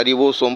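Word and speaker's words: ribosome: इसके बाद राइबोसोम क्या होता है, तो राइबोसोम को हम राइबोसोम या रिबोसोम प्रोनाउंसिएट करते हैं।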